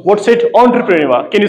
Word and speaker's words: entrepreneur: It's not entrepreneur, it's entrepreneur. What's it? Entrepreneur.